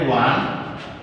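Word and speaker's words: one: এখানে ওয়ান কিভাবে দেখবে, এটা দেখতে ভাওয়েল ওটা, কিন্তু আসলে এটা কনসোনেন্ট সাউন্ড। কিভাবে কনসোনেন্ট সাউন্ড, আমরা যদি অক্সফোর্ড ডিকশনারি দেখি তাহলে আমরা দেখবো যে উচ্চারণ এভাবে লেখা আছে। এটা হচ্ছে ওয়া, এটা হচ্ছে ওয়া, আর এটা হচ্ছে আ। এটা কি ওয়া, আর এটা হচ্ছে আ। এই যে ওয়াটা, এটা হচ্ছে একটা কনসোনেন্ট।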